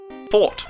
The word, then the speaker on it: forte: musk H hold on let's listen together fort fort there you go it's supposed to be Fort it's pronounced f o r t e according to